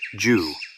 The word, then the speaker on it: 十: It is pronounced Ju and has 2 strokes.